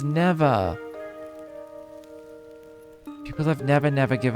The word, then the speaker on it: Neveah: Oh, it's pronounced Neveah.